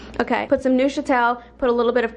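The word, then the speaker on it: Neufchâtel: Can you look up how to pronounce it once and for all? Yes, I think it's like nofchadl. Nofchadl? It looks like a package of cream cheese, but it's like lower fat. Neuchâtel.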